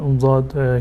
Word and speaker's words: ضاد: و اصل تلفظش این است که کناره زبان باید با بیخ دندانات چسبیده باشد، الان یک طرفش یا دو طرف بچسبونید و این لفظ ضاد را تلفظ بکنید، ولا ضالین.